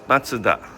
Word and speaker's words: Mazda: I know in the US you guys pronounce Mazda, and then in Canada we pronounce Mazda, and here in Japan we pronounce Matsuda. So pronunciation is a little bit different depending on the country.